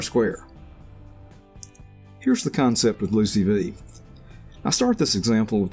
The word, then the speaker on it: LOOCV: one out cross validation LOC V pronounced blue CV and the predicted R square here's the concept of Lucey V I start this example